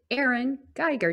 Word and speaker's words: Erin Geiger: So welcome today, Erin Geiger.